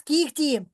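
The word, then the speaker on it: кігті: де у нас саме в слові кіхті так то у нас кіхті я пишу г букву А що я вимовляю я ж то вимовляю кіх х та так само в слові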